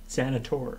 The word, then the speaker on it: Xanathor: Xanator. Xanator. Oh yeah. The H is silent.